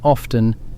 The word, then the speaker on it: often: The T in often is the seventh letter in this file. It went quiet in the 15th century and it stayed quiet.